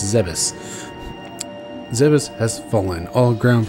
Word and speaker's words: Zebes: supposed to be pronounced it's not zebes it's zebus zebus has fallen all